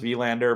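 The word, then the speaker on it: Wallinder: which will be amazing I believe it's probably technically pronounced V Lander but uh because this is America and we do that sort of thing it's uh we'll Lander for for just for familiarity purposes for the audience more than anything else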